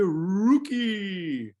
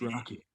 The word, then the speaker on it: Rocky: saying my name correctly every time they say rookie it's rocky rocky rookie that's awesome